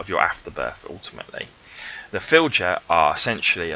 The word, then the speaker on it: fylgja: on Google to listen to how this is pronounced. I'm on YouTube and got a Danish person to say it. Fylgja, okay, the Fylgja.